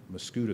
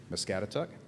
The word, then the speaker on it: Muscatatuck: you see the Atteberry mascoutah attack and I always mispronounce that Muscatatuck yeah see I'm getting the correction so good who writes